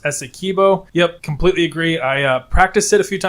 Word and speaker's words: Essequibo: KLZ7618 said, hey, shout out, it's pronounced Essequibo.